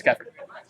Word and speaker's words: Keffer: Keffer, I got it right. Yeah. Yeah, First figure video out- bust. It's Keffer. I've been saying it wrong all day.